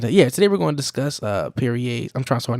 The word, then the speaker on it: Piriye: I'm pretty sure his name's pronounced Piriye, and if it's not, that's how it should be pronounced.